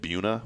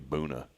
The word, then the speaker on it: Buna: Am I pronouncing that right? Boona? I think How so. else would you say it? Buna? But it can't be Buna. It's got to be Boona.